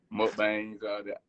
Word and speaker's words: mukbangs: I done watched a couple of your YouTube videos, mukbangs.